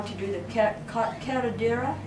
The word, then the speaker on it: curandera: did you ever learn how to do the curandera?